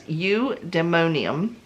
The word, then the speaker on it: Eudaimonium: So it is called Eudaimonium. I think that's pronounced right. U as in E-W-E, like, you know, that type of U. Yes, Eudaimonium.